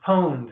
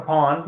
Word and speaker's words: pwned: It's pronounced pwned. Does anybody know what pwned means, or pawned?